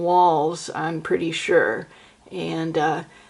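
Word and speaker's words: Walz: Um a lot of people including mainstream media keep calling him Tim Waltz. You know Waltz like the dance. It's it's not. It's Tim Walls I'm pretty sure.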